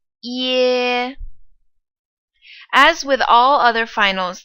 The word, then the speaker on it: ye: This compound final is ye, ye. It starts off as E, and then it gets into E, like egg. Ye.